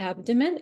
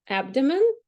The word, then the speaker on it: abdomen: and the r cage abdomen possible stresses in this word it can be abdomen or abdomen in a general English people say abdomen but doctors use abdomen that's like from a Latin word they that's why uh